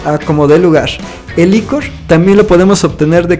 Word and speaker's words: ichor: Esta palabra Ichor es pronunciada de diferentes formas, algunos le dicen Ichor, otros le dicen Iker, pero yo le digo Ichor.